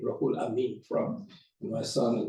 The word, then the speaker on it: Rohulamin: First of all, I am Rohulamin, that's how it's pronounced, Rohulamin Quander.